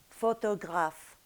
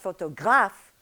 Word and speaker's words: photograph: a group of words so you have for example "photograph" - the accent is on "graph" but it's not photoGRAPH - no it's photograph.